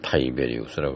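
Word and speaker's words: Tiberius: 그 다음엔 빌라도가 그 황제 클라우디우스 티베리우스 영어 발음으로는 타이베리우스라고 그러죠. 근데 성경에는 티베리우스라고 나와 있습니다.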